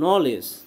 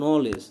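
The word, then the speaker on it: knowledge: তো নলেজ বানান দেখো এই কে এর কোনো উচ্চারণ হয় না, ঠিক আছে, কে নলেজ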